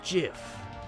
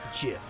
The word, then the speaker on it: GIF: GIF. Like the peanut butter. The creator said so.